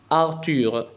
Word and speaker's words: Arthur: TH تنطق T Arthur.